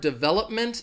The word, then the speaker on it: development: development so the word development again the stress is going to be it has four syllables the stresses on that second Stila bull development and again I'll put